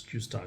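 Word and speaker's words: Q*: thing called qar okay it's like Q with that astris qar is pronounced that was created by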